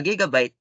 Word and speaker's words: gigabyte: or approximately a million bytes next gigabyte a gigabyte pronounced with two hard disks is a unit of